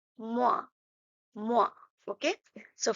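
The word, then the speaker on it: moins: sign or the symbol so minus we say mo mo okay so 5 - 3 equals 2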